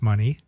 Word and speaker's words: Money: It's pronounced Money.